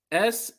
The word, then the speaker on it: Snuggerud: It's spelled like it's pronounced. Snuggerud.